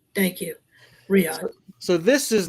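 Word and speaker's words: Riyadh: I I forget how to pronounce that. Yeah. I forget how I'm sorry if Riad. Thank you. Riad. Thank you. Riad.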